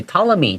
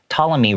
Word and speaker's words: Ptolemy: 它是 P 开头的，但是我一听到，他怎么没有发那个 P 的声音呢？因为这个 P 不发音，所以你可以在这个 P 上面打一个小叉叉，告诉你说，哦，这个字不发音哦。所以 Ptolemy 就是这个当时这个希腊的一个数学家跟天文学家。Wrote books on both astronomy，他同时有写这种天文学的书，the study